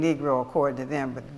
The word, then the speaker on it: Negro: nice way of saying negro according to them but Dr ma always said don't they say understand the two syllables knee and grow the knee and grow two syllables educated people couldn't use